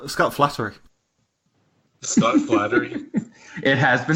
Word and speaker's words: Flanary: It's Scott Flattery. Scott Flattery. It has been spelled that way before. And just so we're clear, how is it spelled? Oh my God, it's spelled like canary with an FL.